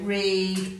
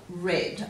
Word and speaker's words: read: Now you know that ea can make a long e sound with ea, and it can also make a short et sound as in red. So when you see this word, you could say read or read.